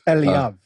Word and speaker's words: Eliav: And it's Eliav.